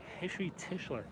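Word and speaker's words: Heshy Tischler: I believe that's Hishi Tischler. That's how you say his name.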